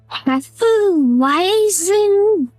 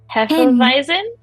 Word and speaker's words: Hefeweizen: like, what is a Hefeweizen? Hefeweizen? That's a W. Why would you pronounce W like a V?